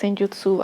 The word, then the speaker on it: Senjutsu: Apparently it's pronounced Senjutsu, I don't know. Apparently Japanese language doesn't really have stressed syllables, but yeah, let me just start a little bit with, I don't know, probably Moonlight.